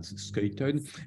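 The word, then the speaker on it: Schuiten: gens de 2 amis François Skelton ou comme on dit parfois mais prononciation belge est bien skaton François splaton est un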